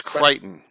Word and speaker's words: Crichton: Is it pronounced Crichton Broadhurst, not Creighton? Crichton, I believe. What's that? Crichton. I think it's Crichton. It's Crichton. Okay.